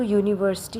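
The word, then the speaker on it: university: इसलिए क्योंकि यू यू मतलब हम लोग प्रोनाउंस कर रहे हैं वाई। ओके? यू। तो यूनिवर्सिटी है। इसीलिए हम लोग यहां पे ए बैठाएंगे। ये अच्छे समझ लीजिएगा क्योंकि यहां पे बिगिन तो होता है वोवेल से लेकिन साउंड जो होता है वो दूसरा होता है।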